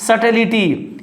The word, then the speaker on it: subtlety: Here is B is silent, here is subtlety, here is B is silent.